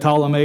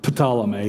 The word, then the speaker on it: Ptolemy: have to understand that Ptolemy is spelled with a P is not potala me it's Ptolemy but the P is silent you also have to